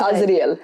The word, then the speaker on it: Azrael: We say it Azrael.